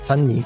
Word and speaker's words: Sunmi: latest song which just came out but it's sunny who prevails and it's her progressive acoustic friendly